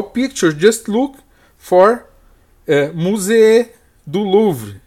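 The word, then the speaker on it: musée du Louvre: pictures just look for musee du louvre that's the French pronunciation of Louvre Museum here we have the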